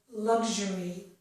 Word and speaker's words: luxury: And in this one, XU makes zh, as in the word luxury. It can also make the sh sound for some speakers.